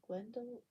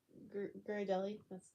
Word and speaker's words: Ghirardelli: Glendahill? Ah, shucks. It's nothing. But you're welcome, Ashton. I appreciate you too. Um, yeah. I used to down those things so hard, the Glendale. Ghirardelli. That's the name. Ghirardelli.